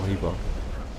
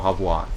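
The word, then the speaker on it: He Bo: Honestly, I want to kill Hebo. Or Habwa, if I need to pronounce it correctly.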